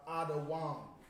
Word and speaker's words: Edom: Edom is Adawam. Adawam. All right, that's how you say Edom. It's Da Wam.